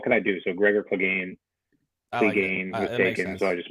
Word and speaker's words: Clegainz: How do you pronounce it? Clegainz? Yeah, Clegainz.